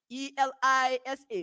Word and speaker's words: ELISA: acronyms polymerase chain reaction e-l-i-s-a which pronounced elisa and acronyms enzyme link